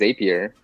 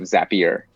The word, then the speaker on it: Zapier: the team that runs zapier and almost everybody says a peer and then it's not until they kind of came up with a tagline exactly or makes you happier that they they finally